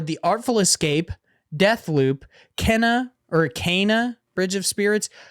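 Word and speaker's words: Kena: artful escape death loop kenna or kana bridge of spirits i think it's actually meant to be pronounced kina by the way but i'm not 100 sure um psychonauts 2 and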